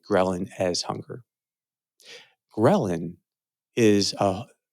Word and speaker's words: ghrelin: What hunger really is, you can say, is our experience of a hormone called ghrelin. It can also be pronounced ghrelin, but I'll call it.